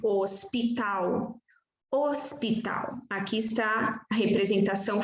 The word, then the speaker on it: hospital: A letra H no início de palavra não é pronunciada. Como aqui, por exemplo, hospital.